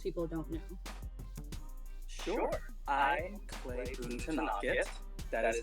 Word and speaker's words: Boonthanakit: I'm Boonthanakit. That is how you pronounce that last name.